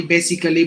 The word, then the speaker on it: basically: look at these words we usually say like artistically automatically basically biologically no all these letter A's are silent not only that in